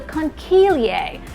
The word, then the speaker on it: conchiglie: It's actually in the shape of a pasta shell that's called a conchiglie.